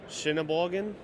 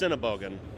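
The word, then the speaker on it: Sennebogen: I don't know how you pronounce the name. Shinaban.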